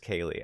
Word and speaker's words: Kaylee: Wait, no, it is pronounced Kaylee. Okay. Oh, so it is like Kaylee.